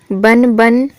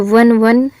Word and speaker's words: वन वन: इसका शुद्ध उच्चारण क्या होगा? वन वन होता है या फिर वन वन होता है? तो वन वन भटकना होता है। ठीक है? वन वन नहीं होता।